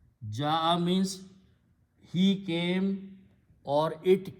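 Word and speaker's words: جاء: Ya with a fatah is pronounced as alif. So it becomes ja. Ja'a means he came or it came.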